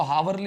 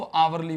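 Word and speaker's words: hourly: इसको हावरली नहीं बोलेंगे। इसको आवरली बोलेंगे। अब जैसे ही तुम आउ आवर मत बोलो। तुम तो आ बोलो। आ बोलते ही तो पूरा मत बोलो ना। पूरा क्या मतलब है? तुम पता है एच साइलेंट रहेगा इसके अंदर।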